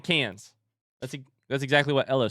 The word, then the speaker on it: Cannes: I said cans. That's exactly what Ella said. Cans? Cannes.